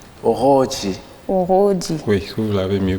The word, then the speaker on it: Oroodji: C'est pas du français, on ne dit pas oroji, ça c'est français. Oro, on roule avec la langue.